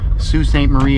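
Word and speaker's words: Sault Ste. Marie: Sous St Marie Ontario yes that's how you say it Sous St Marie ont onario or as we call it the Sue there are two of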